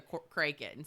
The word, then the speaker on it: Kraken: you're hungry and cranky it is pronounced crank and because thinking about it you can't say a whack in the Kraken it's awakened the Kraken so it has to be oh we can